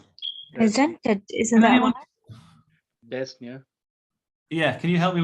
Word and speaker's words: dyspnea: So presents with dyspnea. Presented, isn't that one? Dyspnea. Yeah, can you help me with the pronunciation, sir?